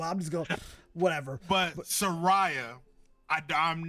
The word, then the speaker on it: Saraya: Sarah Ray, right? Who? Sarah Ray. Isn't Saraya? Saraya. Yes. Brother, Sarah Ray is a better name, low key though. But I'm just going, whatever. But Saraya, I'm not a big fan of her.